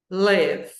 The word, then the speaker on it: live: verbo morar, eu digo live. I live in. I live in. Eu moro em Não é som de i, tá? É som de e lev.